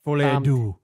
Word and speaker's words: Folie à Deux: So how do you pronounce this? It's Joker Folie à Deux or something like that. Folie à Deux.